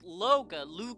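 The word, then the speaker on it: Looga: It's just Loga, like, you know, L-O-O-G-A.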